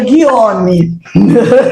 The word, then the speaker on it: Guillaume: Trouxemos Guilaume, acho que é assim que pronuncia. E a semana passada com a Luísa nós passamos aperto com esse francês. É mesmo, é? Ele falou que é Guillaume.